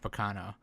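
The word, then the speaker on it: Baccano: me want to watch Bacano. So it's like it's Bacano-san, not Bacano. For fuck's sake, you gotta pronounce it right. It's the first syllable that is emphasized.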